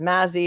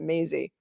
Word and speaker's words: Maisy: honorable Timothy P Maisy I know it looks like it says Mazy but I've been in court and they pronounce it Maisy I'm it tellan too I know I would say Mazy it's Maisy on August 1 2023